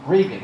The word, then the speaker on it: Regan: Is it pronounced Reagan or Regan? I'm Regan. Regan, okay.